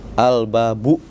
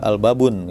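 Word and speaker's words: الْبَابُ: Al-babu ya. Jadi enggak al-babun ya.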